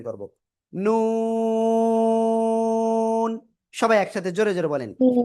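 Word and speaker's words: ن: কোন জায়গাতে উচ্চারিত হয় জিব্বার আগা তারপর আবার উপরে তালুর সাথে লাগাবো লাগিয়ে আমরা চার আলিফটা নিয়ে উচ্চারণ করব কয় আলিফ চার আলিফটা নিয়ে উচ্চারণ করব নুন সবাই একসাথে জোরে জোরে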